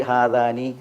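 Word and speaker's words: هذان: ഉച്ചാരണം എന്തായിരിക്കണം ഹാ എന്നായിരിക്കണം ഹദാനി എന്നാകാൻ പാടല്ല ഹാദാനി എന്നാകണം.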